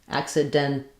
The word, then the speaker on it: accidentally: Here we either say it accidentally as 2 syllables, and if we do that accidentally, we use an aspirated T here, even though it's not stressed. That's because in words with NT, we either leave the T out.